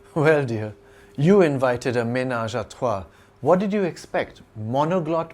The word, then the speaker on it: ménage à trois: Ménage à trois, pronounced ménage à trois in French, literally means household of three.